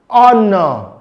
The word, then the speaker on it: honor: Now, the letter H can be silent in words like hair, honor, ghost, rhythm.